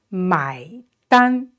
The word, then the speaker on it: 买单: 买, 买, and it's dan, look at the vowel, it's an, and it's pronounced exactly like the English word an. So an, the first tone is flat, keep it flat.